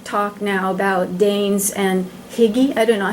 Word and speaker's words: hygge: Katrine, in terms of values, there's a lot of talk now about Danes and hygge. I don't know how to pronounce it, but it means comfort and warmth and sitting in front of the fire with your family.